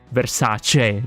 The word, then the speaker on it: Versace: Which is pronounced lasagna, not lasagna, just like Gucci, no, or Versace, not Versace.